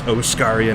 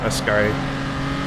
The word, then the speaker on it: Oscaria: Yeah, I mean, I know it's Oscaria, not Ascari.